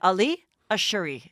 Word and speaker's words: Ashouri: You wanted me to say Ali Ashouri.